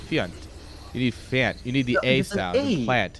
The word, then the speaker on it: Fjant: You just have to have an extremely Swedish accent when you say it. No, but Spam this plant to help out Fjant.